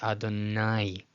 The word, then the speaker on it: Adonai: Notice how it's not two separate vowels, right? But they're combined. Nobody says Adonai, Adonai, Adonai. No, it's combined Adonai, Adonai.